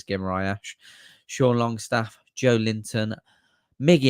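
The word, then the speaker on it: Guimarães: Then we got Bruno Guimaraes, or Guimaraes, however you want to pronounce it. I think it is Guimaraes.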